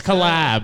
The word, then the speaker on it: CollXab: Well, it's collab. It's like XX. No, the X is just silent. People are like, it's like collab collabs. X. Xylophone. They're like, how do I join collab X?